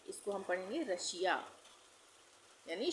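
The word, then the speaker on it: Russia: तो इसको हम पढ़ेंगे रशिया यानी श का उच्चारण होगा।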